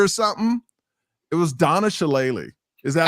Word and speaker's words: Shalala: It was Donna Shalala.